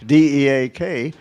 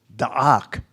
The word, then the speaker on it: Deak: It's not dee d e a k. It's I don't it's not even deak which I used to say. It's dak.